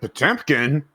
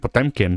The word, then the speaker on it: Potemkin: it in history class, it's not the Battleship Potemkin. No, excuse you, it's the Battleship Potemkin. Potemkin, I see. Which is the actual pronunciation, but fuck that. Like genuinely, yeah, like genuinely, Potemkin's name is supposed to